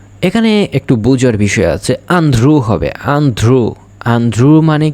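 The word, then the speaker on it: andrò: ইও এখানে একটু বুঝার বিষয় আছে আন্ধ্রু হবে আন্ধ্রু আন্ধ্রু মানে কি আন্ধ্রু মানে ভবিষ্যতের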